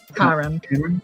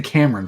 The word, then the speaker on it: Karam: How do you say the last one? Karam. Karam? Thank you. Karam. I wanted to say Cameron for some reason.